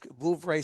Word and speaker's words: Vouvray: It's Vouvray, that's The it. one, the one that he pronounced was Vouvray.